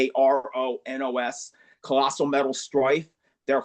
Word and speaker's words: Kronos: number 5 would be Kronos, which is spelled with a K, Kronos, Colossal Metal Strife.